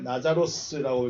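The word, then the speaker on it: Λάζαρος: 나사로라는 이름을 한번 볼까요? 나자로스라고 읽습니다. 나자로스. 그러니까 히브리어 엘아자르.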